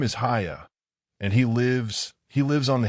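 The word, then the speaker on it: Haigha: His name is Haya." He pronounced it so as to rhyme with mayor.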